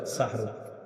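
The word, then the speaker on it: سَحُور: এটা সুন্দরভাবে উচ্চারণ হ্যাঁ সাহরুন সিন হা জবর সাহ র দুই পেশ রুন সাহরুন এটা হলো আমরা যেটা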